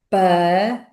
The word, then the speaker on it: espelho: Ora, repetindo esta palavra de forma mais rápida, vamos dizer espelho, espelho. Mas de forma rápida, na fala corrente, o que vamos pronunciar é espelho, espelho.